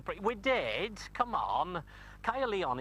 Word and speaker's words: Caerleon: to newport this is kya leon but it's important because it's roman and we needed some roman in the pre we did come on kaia leon is actually how the welsh pronounced castra ligionum which means fought for